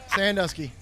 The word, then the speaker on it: Sandusky: i'll tell you okay sandusky sandusky yes sir like ohio that's it no but